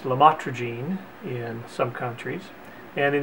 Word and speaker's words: lamotrigine: topic is about a medication called lamotrigine pronounced LaMotte Regine in some countries and